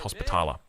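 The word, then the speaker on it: Hospitaller: The Knights Templar sorry Knights Hospitala uh is is the correct way to pronounce that.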